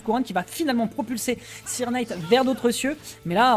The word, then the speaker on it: Sirknight: Comment on dit Cirque Knight ou Sir Knight Sir Knight. Ouais, en même temps, ça m'étonne pas, on prononce ça à l'anglaise, bah, mais avec l'accent français.